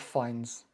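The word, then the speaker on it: Fiennes: is Finns finds other it sounds like the other guy Ralph finds now he was famous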